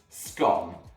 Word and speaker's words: scone: a stone and yes that's exactly how it's pronounced scone no other ways acceptable let's get rolling and